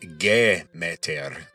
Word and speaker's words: Demeter: So Persephone was the daughter of the chief deity and Demeter, which in Attic Greek would be pronounced Gemeter, kind of like Gemeter.